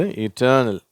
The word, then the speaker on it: eternal: இது ஆரம்பத்தில் ஈயில் இருந்தாலும் அதை ஈ அப்படின்ற உச்சரிப்பு தான் சொல்கிறோம். சரியா? ஐ வந்தால் தானே ஈ சொல்லணும் அப்படின்னு யோசிப்பீங்க. இது இட்டர்னல். அடுத்தது இன்டர்னல், பர்சனல், பர்ச்சேஸ்.